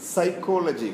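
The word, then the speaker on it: psychology: ഒന്നാം ഇതാ നോക്കൂ, സൈക്കോളജി കണ്ടോ, പി സൈലൻ്റ് ആണ് ഇവിടെ.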